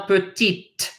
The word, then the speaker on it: petite: However, if a word ends in an E and the previous letter is a consonant, you now must pronounce that consonant. So this is not, if you add an E at the end, it's now grande. This is now petite. This is now lente. So no E, lent.